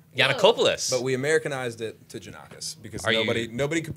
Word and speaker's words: Jannakos: I've had maybe two people in my life say it right, which is okay. But it's Jannakos. Jannakos, and Jannakos. It's Greek. It's Greek.